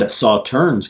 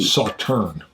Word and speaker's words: Sauternes: malted barley, bourbon and Sauternes cask. Ooh. It's supposed 46% ABV. Sauterne. Sauterne. I heard the S is silent, is what somebody said.